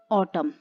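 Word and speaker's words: autumn: अब यहाँ पर देखिए, इस ट्रिक को अगर इस पे अप्लाई करते हैं तो इस वर्ड को आप कैसे पढ़ेंगे, ऑटम। एन साइलेंट रहेगा, ऑटम।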